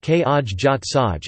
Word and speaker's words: Khai yat sai: Khai Yat Sai or Khai Yat Sai, Thai, Khi Yad Crtgs, Khai Yat Sai, pronounced Kaj Jat Saj, is a type of Thai omelette.